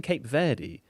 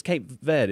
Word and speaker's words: Cape Verde: I I'm trying to train myself to say Cape Verde. I keep saying Cape Verde, but it's it's right that it's Cape Verde, isn't it? Or Cabo because it's in Portuguese.